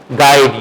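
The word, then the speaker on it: guide: ठीक है तो फिर क्या य की साउंड साइलेंट है गाइड you don't say गाइड okay गाइड okay और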